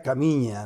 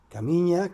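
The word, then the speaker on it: Caminha: en portugués y es el pueblo se llama Caminja, pero es entendíamos nosotros que era camiña, ¿no? Camiña. Caminja. Se escribía Caminja, pero era Camiña, eh, y era un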